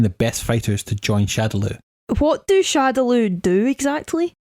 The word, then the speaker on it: Shadaloo: I believe it was meant to be Shadow Law, but with Japanese pronunciation of English words, for some reason it got stuck as Shadaloo, and it's been that way since.